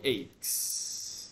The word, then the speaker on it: ache: You may have body aches. You know body aches? Ache is like pain. It's a type of pain. Ache. Toothache. Earache. Headache. Stomach ache. Ache. Don't say H, not H, ache.